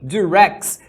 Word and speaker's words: Durex: Só que dirx é uma marca de camisinha em inglês.